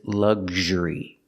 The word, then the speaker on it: luxury: So first the g, the hard G, g, zh. Together, gzh, gzh. The word is luxury.